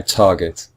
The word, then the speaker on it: target: consonant at the end we have two syllables tar get and both syllables are equal target or in fact it's the first syllable if you listen carefully